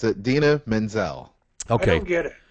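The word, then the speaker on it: Idina Menzel: oh John how do how do you really pronounce this is it Adena yes it's ad Adena Menzel okay I don't get it not to be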